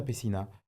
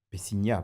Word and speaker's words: Peciña: Pessina, Pessigna, parce qu'il y a le fameux accent sur le N, donc si on veut bien le prononcer en français, parce que maintenant, aujourd'hui, la loi a changé, donc permet de le mettre en avant.